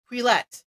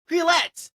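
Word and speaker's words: Quileute: Quillette. That's the name of the tribe. Quillette.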